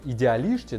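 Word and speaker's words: Idealista: Однако мой опыт показывает, что на одной Идеалиште, да, в португальском, кстати, S читается как буква Ш.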